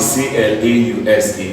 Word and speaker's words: clause: It's found in C-L-A-U-S-E. This is pronounced as clause.